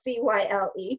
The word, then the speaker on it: Cyle: So yes, because his name is spelled C-Y-L-E, Cyle.